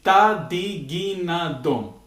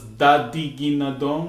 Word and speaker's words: tadiginadom: And we might have touched upon the 5, which is tadiginadom. Tadiginadom. Sometimes pronounced as dadiginadom with a D, tatikitatum, or even kitakinadom.